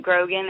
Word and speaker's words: Grogan: Yep, Grogan is how you say it.